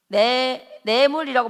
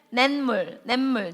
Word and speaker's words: 냇물: 내물이라고 발음하지 않고 어떻게 발음해? 냇물. 니은 덧나는 거 맞지?